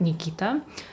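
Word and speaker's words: Никита: in Russia it's a male name and it's pronounced like Nikita.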